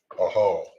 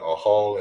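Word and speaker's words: אוהל: All right, tent in Hebrew is pronounced as a hall. All right, so we got a hall in Hebrew.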